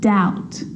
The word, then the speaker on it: doubt: examples subtle debt and doubt so seeing all of those examples my lips aren't closing and coming together to form the B sound i'm just pronouncing the t subtle debt and doubt now the letter c